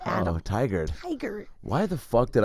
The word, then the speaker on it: Tigard: go up to Tigray for a little bit, Tigray, Oregon. Isn't that what it's pronounced? Tigray? Isn't that how you pronounce it? Is that where you're from? Tigard, Adam. Oh, Tigard. Tigard.